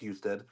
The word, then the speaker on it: Husted: So it has John Husted. It's pronounced Husted.